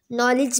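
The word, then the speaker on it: knowledge: for example ए में नॉलेज ओं a nice नॉलेज में के होता है स्टार्ट में तो अगर हम के को साइलेंट करते हैं तो नॉलेज बनता है एडम्स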